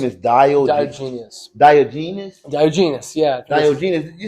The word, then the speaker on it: Diogenes: Diogenes. You sound like you said Diogenes. Well, that's how you spell it. Like like the soap, like genius? Like Diogenes? Diogenes. No. You gotta say it Greek.